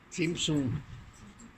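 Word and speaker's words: צמצום: T-Z-U-M, Zum, Sin Zum, T-Z-U-M, Sim Zum. Bueno, no es que así se escriba, sino que así se dice, porque se escribe en letras hebreas que se leen de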